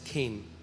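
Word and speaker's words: חן: इट्स CHEN बट it's pronounced as खेन।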